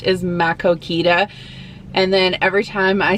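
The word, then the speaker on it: Maquoketa: from out of town and they would like pronounce the names of towns, they would say them wrong, like Makokita instead of Makokita, or Dubuque instead of Dubuque.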